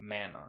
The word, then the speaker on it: mana: of mana okay but this anime says time and time again with a hard a mana okay so let's just go with the english form i'm at this point i'm cool with manna okay so soros the